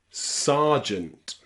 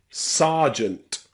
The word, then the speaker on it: sergeant: word in English where the letter e is pronounced R and it is in the word Sant Sergeant okay this is the only time I know in English where the letter e is pronounced a a sergeant okay so just remember that one word Sergeant